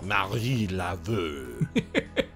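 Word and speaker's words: Marie Laveau: Oh, he said it wrong. It's Marie Laveux.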